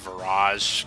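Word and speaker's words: Virage: because I used to save Irish instead of Viraj because I used to pronounce it wrong yeah it's like he calls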